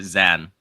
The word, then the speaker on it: Zane: So it's almost as if for the native English speaker, it's kind of like as if the I is silent. Yeah, he's totally fine with both of them because everyone calls him Zane.